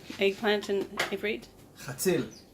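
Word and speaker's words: חציל: Chatzil. Chzil. Chatzil. It's H-A-T-Z-I-L. Chatzil. There you go. Chatzil. Yeah, you really need to spit out everything.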